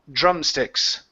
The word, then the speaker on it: drumsticks: try that last word instead of drum juror drum drum sticks drumsticks good one more time juror drumsticks drumsticks they looked like drumsticks they look like drumsticks good job much better with the dr next one here is